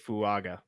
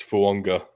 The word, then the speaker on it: Fuaga: I'm going to go with Talise Fuaga. Is that better? It's Polynesian. You got to add the secret N in there. It's Fuanga.